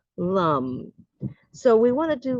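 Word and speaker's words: लं: It's spelled Lam in Sanskrit, but it is the sound is lum.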